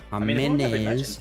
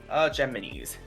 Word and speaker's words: JAMMINIZ: Yeah, JAMMINIZ. How do you actually pronounce that? JAMMINIZ.